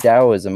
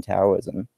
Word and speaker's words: Taoism: or is it pronounced Taoism? I've heard it pronounced both different ways. It's technically, it's kind of like between a D and a T, so it's sort of like close enough.